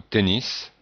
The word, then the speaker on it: tennis: la prononciation du mot tennis qui est en fait un mot anglais dè que l'on prononce donc avec la prononciation qui ressemble à l'anglais alors continuons avec la